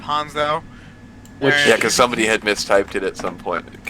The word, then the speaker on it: Hanzo: He would go in and say his name was Hanjo instead of Hanzo.